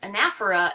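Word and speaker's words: anaphora: might be of interest to you um it's pronounced anaer and it means repetition and so there's effective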